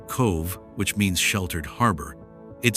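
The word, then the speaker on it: Cobh: pronounced cove which means sheltered harbor.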